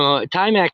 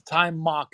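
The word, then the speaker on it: Timok: But I'd like to welcome Timac to the stage. Timac, have you had a chance to see the ruling class? Hi guys, it's Time Mock is the correct pronunciation, Eric.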